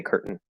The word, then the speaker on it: curtain: just like mountain um but with curtain if you do pronounce the the vowel it can be a or it can reduce to a schwa i think it the